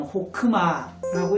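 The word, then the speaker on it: חכמה: 특별히 추상명사로 발음할 때는 호크마라고 읽을 수 있는데 원래 무엇인가를 잘할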